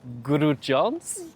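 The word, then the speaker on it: Grudziądz: Grudziadz, I think. Is that pronunciation right?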